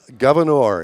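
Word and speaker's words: Gouverneur: So, rhymes with manure.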